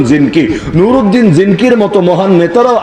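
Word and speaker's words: Zengi: বাংলায় বলে জঙ্গি। আসলে উচ্চারণ জিনকি।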